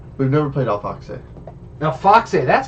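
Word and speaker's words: Auf Achse: u f yeah we've never played Al Fox Al Fox that's how you pronounce it yeah Al Fox I got it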